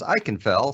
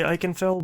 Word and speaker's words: Ikenfell: And Ema's one taught me how to say the game's name as Ikenfell, since that's how they say it in the song.